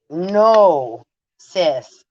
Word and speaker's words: gnosis: right it's the void no cis gnosis g n o s i s the g is silent like in gnome go home um so